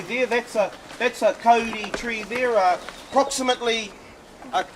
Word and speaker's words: kauri: trees are commonly mispronounced calry it's spelled k a u r i correctly pronounced Cody Cody if you took the